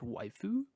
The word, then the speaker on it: waifu: actually it's pronounced waifu.